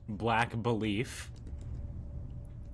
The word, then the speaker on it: BLKBLEAF: It's pronounced Black Belief, and it's spelt BLKBLEAF.